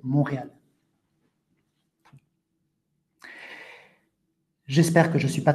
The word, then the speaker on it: Montréal: Avec le temps, le la prononciation a changé et donc aujourd'hui, c'est Montréal.